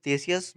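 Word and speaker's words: Ctesias: थे फ्लक्स टस मिलिटियस थेसियस basically के साइलेंट होता है इसमें थेसियस और तुम्हारे हेरोडोटस और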